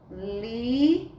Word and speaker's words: lisa: Mas, tia, um S com A não é chá? Sim, seria chá se fosse na primeira sílaba, mas ela veio na segunda sílaba e a letra S veio entre vogais. Aí formou aqui a palavra lisa.